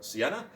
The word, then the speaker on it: Sienna: you very much um for correcting me on my pronunciation of sienna i don't know why i was adding an r to her name i don't know i'm